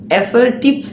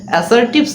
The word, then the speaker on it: assertive: sentence অ্যাসারটিভ sentence না এটার আসল উচ্চারণ বা সঠিক উচ্চারণটা হচ্ছে অ্যাসারটিভ সেন্টেন্স আমরা অ্যাসারটিভ সেন্টেন্সের অর্থ